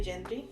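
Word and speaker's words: Yendry: yeah yeah yeah um how would you say her name um i would also say genji yeah so when she introduced herself that's what she said okay so it's y-e-n-d-r-y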